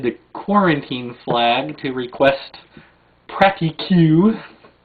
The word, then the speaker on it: Pratique: We hoisted the quarantine flag to request Pratique, or Pratique if you want to pronounce it correctly.